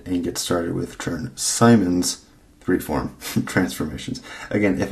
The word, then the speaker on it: Simons: I've been pronouncing Churn Simons wrong. That is my bad. I don't think when I speak sometimes it's Simons, like not Simmons, right?